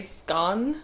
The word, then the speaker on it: scone: that people actually say scone (Pronounced s-con) like, I knew that but like... actually. People actually say scone. Scone. Scooone scone (british accent) (attempt) I would like a scone.